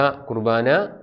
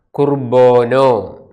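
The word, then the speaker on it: ܩܘܪܒܢܐ: വിശുദ്ധ കുർബാന, യൂക്കറിസ്റ്റ്, കുർബോനോ. കുർബാന എന്നുള്ളത് പൗരസ്ത്യ സുറിയാനി ഉച്ചാരണമാണ്.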